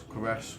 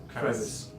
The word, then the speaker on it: crevasse: You might fall off into the crevasse, whatever you call it. crevice. No, crevice. Crevasse. Oh, crevasse. Crevasse. Okay. Crevasse. Good crevice is like Yeah, small.